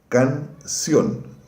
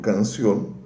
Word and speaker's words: canción: Outra, canción. Canción. Quando eu digo canción, também a sílaba está na.